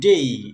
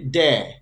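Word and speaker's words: day: একই রকম ডি এই, ডেই, এটাকে আমরা বলি ড্যা। ড্যা না বলে, এটা ভুল উচ্চারণ, ড্যা না বলে আমরা এটাকে বলবো ডেই।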